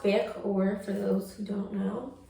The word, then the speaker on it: Vaehhkaoir: It's pronounced Vaehhkaoir for those who don't know.